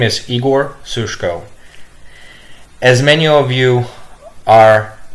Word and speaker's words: Igor Sushko: Hello everyone, my name is Igor Sushko. As many of you are gonna hear me speak for the first time, please take note that my name is pronounced Igor Sushko.